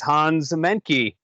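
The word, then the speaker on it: Hans Mahncke: Today we're going to be talking with one of my friends and fellow researchers, Hans Menke. Hey, Dr. Hans. Am I pronouncing that right?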